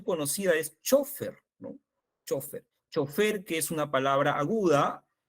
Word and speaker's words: chofer: es chofer no chofer chofer que es una palabra aguda y chofer que es una palabra grave que no la pronunciamos mucho acá pero sí la pronuncian en otros lugares de latinoamérica No eso lo podemos